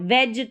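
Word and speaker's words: wedge: डी जी ई bridge ऐसे ही डब्ल्यू ई डब्ल्यू ई को अगर सिर्फ डब्ल्यू ई होता तो उसको वी पढ़ते लेकिन यहां पर स्पेलिंग में है यहां पर डब्ल्यू ई ई को यहां पर ए करके पढ़ेंगे ये व वाला साउंड आएगा व और डी जी ई इसको ज वेज करके इसका प्रोनंसिएशन हो गया वेज तो इस तरीके से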